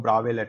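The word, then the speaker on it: Bravais: lettuce को हम लोग ब्रावेन है एस साइलेंट है इसलिए ब्रास बोल सकते हो लेकिन ब्रास नहीं बोलते लोग ब्रावेन फोर क्रिस्टल सिस्टम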